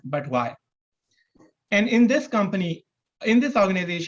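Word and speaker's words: BUTWI: up a company called b-u-t-w-i which when pronounced would be spelled or pronounced as but why and in this company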